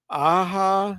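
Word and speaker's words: Alexandre Aja: written by one of the writers is Alexander aha is how you pronounce it Aja how you pronounce that with the J do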